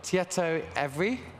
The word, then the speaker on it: Tietoevry: So, Tietoevry, Yeah. am I saying it right? Yeah, Terrible perfectly. with all the Nordic pronunciations.